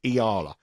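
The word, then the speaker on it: Eala: A player that's Iala. I get stick for how to pronounce it. It's Iala.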